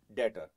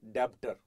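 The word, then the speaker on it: debtor: EB t o r b is silent when you speak data not dapter please be careful and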